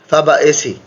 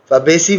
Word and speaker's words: Fabaceae: Family फाबाएसी, फैबेसी भी बोल सकते हो, फैब एसी भी बोल सकते हो, ताकि स्पेलिंग याद रहे।